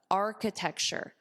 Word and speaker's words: architecture: Notice the pronunciation. I hear a lot of mistakes with this. Even students who have this job title, I hear mistakes. Ar-ka, architecture. Architecture. Architecture.